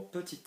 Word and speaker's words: petit: Petit ami, we've got to remember petit will always be petit, not petit, not petty, petit, okay?